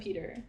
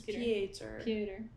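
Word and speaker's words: Pétur: And then the brother was like, it wasn't Peter. It was almost Peter. It's Pieter. Yeah. Yeah, but it's spelled like Peter.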